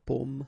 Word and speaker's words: pomme: because in that case normally it should be a bit lower, pomme, and then here more open, so pomme, okay.